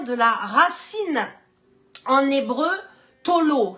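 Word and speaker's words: תלה: la racine en hébreu Tolo ça s'écrit t a l a h Tolo ça veut dire vraiment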